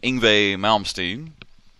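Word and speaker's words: Yngwie Malmsteen: did a nice little chain of Alcatraz featuring inve malmstein I said it right duck yeah that's how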